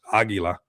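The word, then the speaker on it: Águila: everywhere, which is cool how it's spelled with a Q here. But it is like almost how we say it in Spanish, Aguila. You know, we say it with a G, but I mean, there you guys go.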